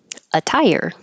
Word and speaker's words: attire: for the T anst attire attire is something you wear but but when we say this a tire it sounds exactly like um a tire immigrants immigrants remedies remedies